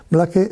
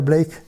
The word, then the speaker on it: Blake: Black se podría pronunciar Blake porque su padre era irlandés.